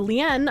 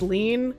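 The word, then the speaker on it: lien: for said penalty assessment I know it's pronounced lean but I don't like saying it that way so you know before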